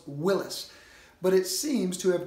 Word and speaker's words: Willys: eye for the Y sound so it was pronounced willis but it seems to have transmuted by some